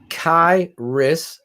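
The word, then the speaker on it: Khyiris: Tonga he's still there kairis I believe kiris kiris Tonga yeah k-h-y-i-r-i-s six two three twenty five Shane pronounced kairis Tonga I did it right look at that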